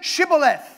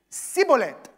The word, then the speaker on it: Shibboleth: He can't say his S's right, so he gets killed. They said, say Shibboleth. But the Ephraimites would say Sibboleth and get killed right there in the water.